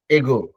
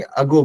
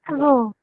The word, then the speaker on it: ago: कहा something was done एगो। Actually style के हिसाब से बोलेंगे उसको, जैसे आपका स्टाइल है उसमें आप उसको एगो कभी नहीं बोलेंगे, अगो बोलेंगे। Ago.